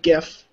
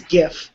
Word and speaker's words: GIF: One, the mispronunciation of GIF. That pissed me off. I don't care if you think it's GIF, it's GIF. It's wrong. GIF.